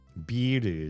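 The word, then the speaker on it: ビール: You have to kind of hear like the longer I sound, the longer e in that word because there's a tempo to Japanese spoken Japanese.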